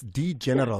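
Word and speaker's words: D'General: It's D General, because it's a D, then there's an apostrophe General after that.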